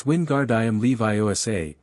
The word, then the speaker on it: Wingardium Leviosa: It's Wingardium Leviosa. Make the gar nice and long.